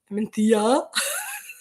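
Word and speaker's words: Mencía: Mencia. It's pronounced like that, but it's not spelled like that. Tricky, these Spanish words.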